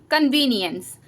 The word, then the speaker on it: convenience: इसको क्लियर करते हैं तो जब आप ई के साथ एन देखेंगे तो आप ई के साउंड को ए प्रोनाउंस करेंगे कन व नी एंस एंस यहां पर अब ई का क्या प्रोनाउंस हो रहा है ए प्रोनाउंस हो रहा है कन्वी नि एंस कन्वीनियंस बट यहां पर भी